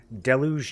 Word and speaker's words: DELU: Deluge Noah. But the most well-known pronunciation is DELU. The most widely accepted pronunciation would be DELU. Or DELU Noah.